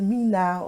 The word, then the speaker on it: Mina: Okay, so it's Mina. You got the Mina part correctly.